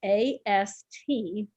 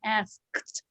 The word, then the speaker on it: asked: is write the letters a-s-t on a piece of paper and tell her to pronounce that how do you pronounce that because people have a hard time saying asked i asked him a question but if you say